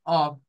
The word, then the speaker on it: of: de mencionar la palabra of Así debe de pronunciarse con una V no con una F vea of meaning of